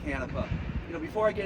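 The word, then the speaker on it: Canepa: vice president David canipa C N EPA uh pronounced uh canipa you know before I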